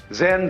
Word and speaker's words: Zen: Eka is Japanese pronunciation, like Zen is the Japanese pronunciation of the Chinese Chan. And the story is that when Eka came to Bodhidharma, Bodhidharma refused to accept him as a student. All Zen masters do this.